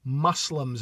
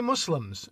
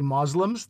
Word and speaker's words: Muslim: is the fact that Asif says Muslims as though he's pronouncing the word musk. And I say Muslims. Other people say Moslems. That's really not done anymore. But feel free to go Asif's way if you like. But really, Muslims is just fine.